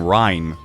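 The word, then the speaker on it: Reyn: But Shulk and Rain are currently level 10. Or, sorry, I should be calling him Rhine. People have told me his name is actually pronounced Rhine.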